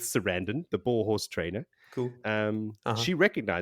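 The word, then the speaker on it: Cerandin: I want to pronounce her name as Sarandon, as in Susan Sarandon. It could be Seradin if you want, but I'm going to go with Sarandon, the boar horse trainer.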